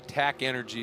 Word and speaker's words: TAC Energy: And that TAC Energy, TAC Energy is how it's pronounced.